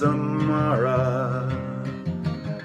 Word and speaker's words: Amara: And then Miss Amara. Don't feel sorrow. That's sorrow, but Sara rhymes with Amara, so there you go.